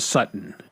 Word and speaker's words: Sutton: His name is Courtland Sutton. Okay. S U T O N. Sutton. But they don't say Sutton. They say Sutton.